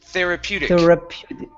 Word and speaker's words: therapeutic: therapeutic therapeutic therapeutic yes switch that t to a flap flap t at the end therapeutic therapeutic okay very good